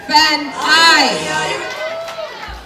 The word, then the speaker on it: Fan'aye: goes to none other than Miss Fan Sunlight, pronounced Fan I.